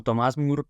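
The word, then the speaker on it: Thomas More: intermediación de estas almas Tomás Moro o Tomás mur como es su correcta pronunciación en inglés nació en Londres en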